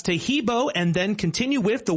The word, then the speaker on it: Tahibo: Tahibo is spelled T like Tom, A-H-E-E-B like boy. Oh, that's Tahibo, and then continue with the word tea and then the word club.